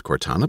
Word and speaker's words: Cortana: Cortana and again I'm gonna guess at the pronunciation I seem to remember it was Cortana but let's find out for sure yeah I